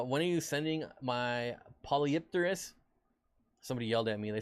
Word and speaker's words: Polypterus: are you sending my polypterus somebody yelled at me they said the the correct way to say biker is apollopterus is that a really